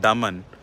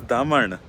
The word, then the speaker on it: Daman: to as down south so we read it as dayu Dio and Daman but it is Daman and deep which are both Sanskrit words I don't know what